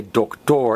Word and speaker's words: doctor: In Spanish we say doctor, and we stress the last O. So in English we stress the first O, doctor, and in Spanish we stress the last O, doctor.